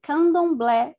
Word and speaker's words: Candomblé: This is pronounced Candomblé in Portuguese.